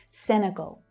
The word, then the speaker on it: Senegal: So the last syllable here is the stressed syllable. Senegal. It's the o as in door vowel sound.